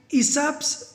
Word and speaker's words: Aesop: तो इस मज़ेदार स्टोरी को लिया गया है एडेप्टेड फ्रॉम ईसाप्स फेबल्स। तो देखो ये इसका प्रोनाउंसिएशन क्या होगा, ईसाप।